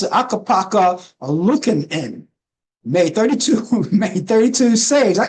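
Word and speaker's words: Ukko-Pekka: And Akapaka, this is how you pronounce it, Akapaka Lukanen made 32 saves.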